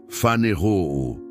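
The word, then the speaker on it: φανερόω: A palavra grega para manifestação aqui é faneru, se pronuncia fanerou.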